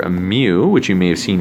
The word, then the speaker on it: mu: of it as a fancy M but it's pronounced mu or mu and this represents the population mean